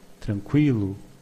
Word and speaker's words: tranquilo: As you can see, in Portuguese, the U after the Q is not pronounced, but we have some words with Q, Q, U, where the U is pronounced.